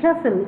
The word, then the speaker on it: castle: the word after me castle to the castle here t is silent it was because the